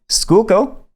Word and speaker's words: Schuylkill: of the auction so the schuylkill not the sky kill the schuylkill uh is justified he's saying that's the right way to say it i think that's i